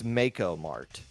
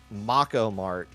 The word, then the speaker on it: Mako Mart: The official pronunciation from the overlords on high is Makeo Mart. So that much I know. If you say Mako Mart, you are literally making up something that doesn't exist because that is how you make up the official.